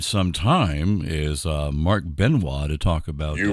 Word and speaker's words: Benoit: going to know right because it's from louisiana so it's spelled one way and pronounce another so it's b-e-n-o-i-t is pronounced benoit okay for our friends